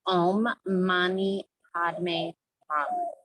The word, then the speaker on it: Om Mani Padme Hum: It's Om Mani Padme Hum. So Om is a sound we're familiar with. Ma, Ni, M-A-N-I, Ma, Ni, Padme, P-A-D-M-E, Padme, the final sound, hum, H-U-M, hum.